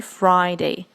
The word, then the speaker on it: Friday: Wednesday foreign next Friday some people say free day that's not right so it should be Friday Friday next is Saturday Saturday